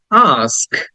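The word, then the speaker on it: ask: word is আস্ক আস্ক আ টা একটু open করে মুখটা ওপেন করে আ টা লং করে বলতে হবে কারণ এটাকে লং সাউন্ড বলে আমরা ওটা অনেকে আস্ক বলি কিন্তু উচ্চারটা হবে আস্ক আ এর পরে স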